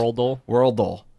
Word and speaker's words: Worldle: Worldle. It's not Wordle, folks.